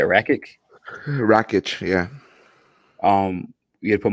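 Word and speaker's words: Rakić: If you had to put money on it though, Ratchet. How you say it? Wreckage, yeah.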